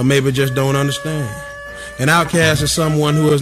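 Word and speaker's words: OutKast: Outcast, pronounced outcast.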